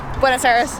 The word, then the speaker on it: Buenos Aires: tour to Vegas that's how you say it Buenos Aires oh wait just outside of Buenos Aires in